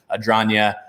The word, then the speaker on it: Adragna: thoughts you gotta follow coach adronya a-d-r-a-g-n-a remind er rhymes with lasagna there you go uh